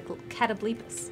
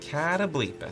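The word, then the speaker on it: Catoblepas: rating 5, they fought the ever so terrifying Catablepus. I looked it up actually. I was pronouncing it wrong, as a matter of fact. Because apparently it is in fact a Catablepus. Catablepus.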